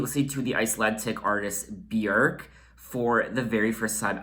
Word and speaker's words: Björk: I think the proper pronunciation of her name is Björk. I know a lot of you say her name Bjork.